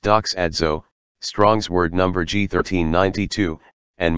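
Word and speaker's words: δοξάζω: Then our Father spoke this word into and unto us, doxazwa, pronounced doxadzo, Strong's word number G1392, and means to render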